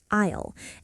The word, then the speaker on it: aisle: a i l e, but you say it like isle, as in I'll have the window seat, please. The S is completely silent. Exactly. Native speakers say it fast and light isle.